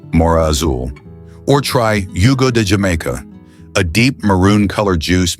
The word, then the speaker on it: jamaica: Or try Yugo de Jamaica, a deep maroon colored juice made from boiled hibiscus leaves. Remember to pronounce it hamika.